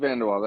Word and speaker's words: VanDeWalle: Am I pronouncing that right? You are VanDeWalle.